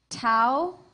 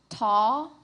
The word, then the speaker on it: tau: Your word has three pronunciations. Tau, taw, tav.